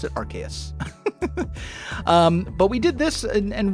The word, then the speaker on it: Arceus: I pronounce it Arceus.